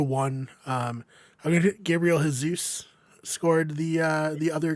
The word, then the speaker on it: Jesus: this a lot uh Jesus is Brazilian and the Portuguese Portuguese speaking people pronounce it Jesus Jesus okay Gabriel Jesus oh